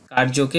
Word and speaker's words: কার্য: করি এরপর থেকে আমরা অন্তস্থ জ এর সঠিক উচ্চারণটা ইয় এর মতই করব কার্যকে কার্য না বলে বলবো কারিয় আমরা যুজুৎসব না